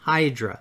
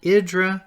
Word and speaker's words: Hydra: And by the way, it looks like it's pronounced Hydra, but that is pronounced Hydra, Idra, or Iora.